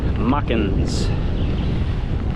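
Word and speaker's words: Machens: to the end at mockings that's how somebody told me to pronounce it muckins and uh I think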